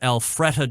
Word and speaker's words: Alpharetta: The next National Pro Barbecue Tour event will take place this coming weekend in, I believe it's pronounced Alpharetta, Georgia.